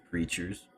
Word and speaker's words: Crytures: life and i'm like it's called creatures but spelled with a why because it's their crystal creatures that's just apparent yeah